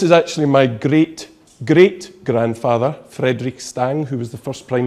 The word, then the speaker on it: Stang: I've got a very Scottish first name, being, but my surname is, I pronounce it as Stang, but I think the more correct pronunciation is Stang.